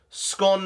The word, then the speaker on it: scone: So I guess that rhymes with gone, not with bone. So I'm going to go scone rhymes with gone.